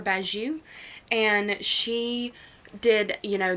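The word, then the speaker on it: Bagieu: this one is by Penelope Baguio I believe is how you say her name or baju and she did you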